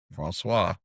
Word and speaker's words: Francois: Francois. Francois. I got to get the Yeah. French in there when I Yeah, do it. add a little zest, you know? Yes. Well, Aaron Francois is an award-winning creative strategist and marketer.